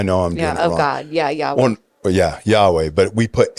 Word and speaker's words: Yahweh: know the original spelling I guess right or pronunciation of Jesus is uh ya a I'm saying I know I'm doing God yeah Yahweh yeah Yahweh but we put A's right we